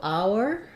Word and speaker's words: our: it's the ow vowel so they sound the same except that if I'm saying it's been an hour I'm going to use that full hour diphthong often if I'm saying um our friends our work I can say our friends but usually I would only say that if I was putting some extra stress there we're going with our